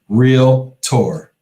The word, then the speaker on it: realtor: realtors is to say it's a two-syllable word real tour right let them know